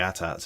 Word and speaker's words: AT-AT: walkers I'm calling them at ATS even though there is controversy on I believe it has been officially put out by a spokesperson for George Lucas that it is pronounced at-at yay it's said in